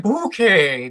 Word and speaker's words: Bouquet: It's pronounced bouquet, dear.